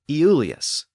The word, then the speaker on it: Iulius: Well, that name was originally pronounced Iulius, but when an I precedes another vowel, it tends to slur into the Y sound. So Iulius eventually came to be pronounced Julius.